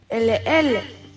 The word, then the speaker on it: Ele ele: E is pronounced like E in bed. Ele ele. Ele ele.